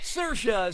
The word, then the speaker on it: Saoirse: this is and answer damn preferred answer is Saoirse says that's the correct way to say her